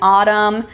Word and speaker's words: autumn: very common we have the final MN as in column and Autumn the N is silent at the end of these we have the initial